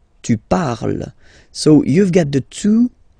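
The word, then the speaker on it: parlent: And the last one, so even if you've got this ent, well, don't hate me, but you won't pronounce these letters, okay? You have to write them for the plural form, but you don't pronounce them, so you get il parle, elle parle. So the good news is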